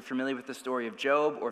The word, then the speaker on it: Job: story of Job, or if you're a new Christian, Job, this is, it's what the word is. Don't feel bad at all. That's like insider info to know the right pronunciation on that one.